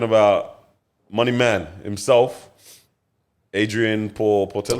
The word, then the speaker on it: Portelli: I think we're talking about Money Man himself, Adrian Portelli. Oh, How do I yes.